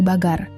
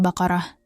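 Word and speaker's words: بقرة: Kata bagar sendiri diambil dari kata baqarah. Pengucapan yang tidak tepat membuat kata tersebut terdengar berbeda di telinga penutur asli bahasa Arab.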